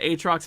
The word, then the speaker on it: Aatrox: How do you That's pronounce not their Aatrox? fault. That's our fault. It's AY as in Bay and Trox.